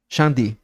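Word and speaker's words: 上帝: Shangdi. Ahora, pronunciemos, juntemos acá a uno de Inglaterra, a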